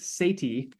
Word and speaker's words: Sethi: uh the Bodacious language ramit Sati is how you pronounce that last name he is uh of